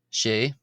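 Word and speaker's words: sé: it's just a single consonant and v uh she that's the number six she is chart with a ch sort of before the t becoming a sort of R sound again.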